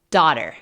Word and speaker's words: daughter: bar poor lotto graffia solo escuchen daughter Rima con water boil apogee level one